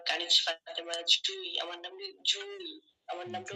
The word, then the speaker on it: জুঁই: না যে আমি কানিজ ফাতেমার জুই আমার নাম জুনি আমার নামটা উচ্চারণ হবে জুনি চন্বিন্দু থাকার কারণে এটা নাক